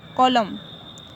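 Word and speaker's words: column: अब नेक्स्ट देखें, जब भी किसी वर्ड के अंत में एन से पहले एम आता है तो एन साइलेंट होता है। देखिए एन से पहले एम अगर आता है तो एन जो है साइलेंट होता है। देखिए क्या है, ऑटम, कॉलम, तो यहाँ पे एम से पहले हाँ, एन से पहले जो है यहाँ पे क्या आया हुआ है, एम आया हुआ है,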